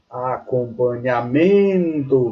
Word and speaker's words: acompanhamento: Veja, é uma palavra paroxítona, porque a sílaba dela está na penúltima sílaba. Veja quando eu pronunciei a palavra acompanhamento, vê a sílaba tônica está na penúltima sílaba. Logo, ela é paroxítona.